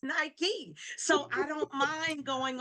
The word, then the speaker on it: Nike: Because the first time I saw Nike, I just said Nike. And they said, "No, it's Nike."